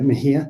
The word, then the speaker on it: Mejia: I'm pronouncing that correctly, right, Mejia? Yes, correct.